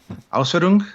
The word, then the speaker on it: Ausführung: to the various Ausfs Or how did you pronounce that again? Ausführung.